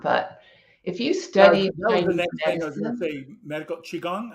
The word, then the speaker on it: qigong: if you study medical Qigong how do you pronounce that Qigong Qigong okay go ahead um the pronunciation I'm sorry the spelling c-h-i g-o-n-g helps to understand how to pronounce it I think okay